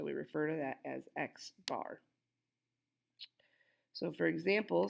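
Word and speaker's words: x̄: X with aligned on top of it we pronounce that X bar an X bar is just equal to the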